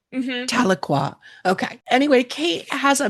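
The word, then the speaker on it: Tahlequah: artist and performer from the Cherokee Nation and Talqua, Oklahoma. Did I pronounce that right, Kate? Yeah, it's Taloqua. Taloqua.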